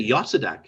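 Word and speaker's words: Jozadak: Josedek. I don't know. Or you could say Yosedek if you want, Yosedek. because they didn't pronounce the J's as J's.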